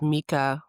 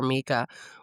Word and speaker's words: Micah: It's spelled Micah, but she says Mika, which just adds to my hatred of the character.